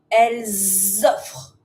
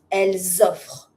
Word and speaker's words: elles offrent: E n t remains mute all the time. So, because it's plural now, I can make a link. Elles offrent. So, we go from the singular, elle offre. Elles offrent. By hearing my z sound, I know that I make a z sound because there's a link.